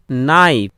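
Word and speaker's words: knife: যেমন উদাহরণ দেখো KNIFA, এখানে উচ্চারণ হবে নাইফ।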